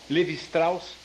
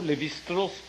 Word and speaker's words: Lévi-Strauss: um filósofo muito famoso, Lévi-Strauss, ou Lévi-Strauss, se quer pronunciar seu nome a maneira francesa, judeu, que fundou uma escola, que é uma escola chamada estruturalista.